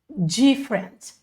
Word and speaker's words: different: Peguem aqui essa pronúncia, não é diferente. Eu sei que vai dar uma vontade de falar diferente, porque parece muito a palavra em português, que é diferente. Mas você vai falar different, different.